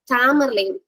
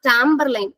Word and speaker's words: Tamerlane: And this poem, Jogger also influenced Edgar Allan Poe to write his first major poem, Tamerlane. Not Tamberlane. Christopher Marlowe Tamberlane கிடையாது, Tamerlane.